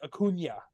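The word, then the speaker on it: Acuña: say his name properly because I know where they where the emphasis is because it's on the end so like it's Akuna like that's easy to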